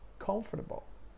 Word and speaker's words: comfortable: first syllable vegetable and the same goes for comfortable you see comfortable not comfortable or whatever variation of that again comfortable you know it's a